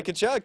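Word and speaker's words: Tkachuk: I'm gonna go Brady Kachchuck. Brady Kachchuck.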